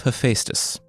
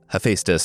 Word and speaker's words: Hephaestus: it's the story of Hephaestus. Hephaestus, according to the pronunciation aids on the internet, or Hephaestus, according to everyone who reached out after I said Hephaestus on last week's episode.